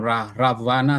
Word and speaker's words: Ravana: or perhap with uh in India is more is more uh pronoun as uh raven if I'm not mispronounce it raan or ravana sometime raana yeah raana yes with the v Indonesia we use w and uh everyone might